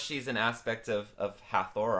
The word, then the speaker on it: Hathor: an aspect of of hathor or hator as it's pronounced in Egypt and the the Trinity